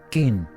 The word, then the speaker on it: quin: En Normandía se pronuncia quin.